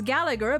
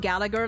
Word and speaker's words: Gallagher: him uh which is Gallagher but apparently the second G there is silent I have heard